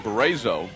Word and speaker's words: Barrizzo: Yeah, his father, one of the coaches of this ball club, and you pronounce his last name Barrizzo.